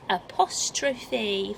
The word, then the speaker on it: apostrophe: able to know that it's an apostrophe apostrophe four syllables in there so you